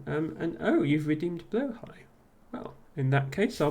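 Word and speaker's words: Blåhaj: high pronunciation yes I I called it blah hard once as well we we've all we've all done it but yes I I I it's it's still not exactly right you you'd have to ask a Swedish person what the the correct pronunciation is but I think blo high is close um and yes I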